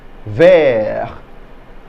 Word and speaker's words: vert: can we say that ver good that's green and that's masculine good that's green and that's feminine so in the masculine the t is silent in the feminine we